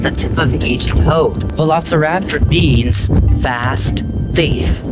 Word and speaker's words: Velociraptor: Velociraptor means fast thief. It's pronounced Velociraptor.